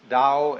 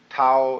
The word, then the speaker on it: Tao: called the dao t-a-o pronounced dao in the mandarin dialect tao in the shanghai dialect toe in the cantonese dialect take your choice dao